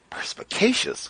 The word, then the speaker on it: perspicacious: Perspicacious?